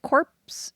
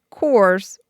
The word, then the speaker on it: corps: could spot a downed Marine Corp is it corpse is that just core just core why is it spelled corpse Corporation I don't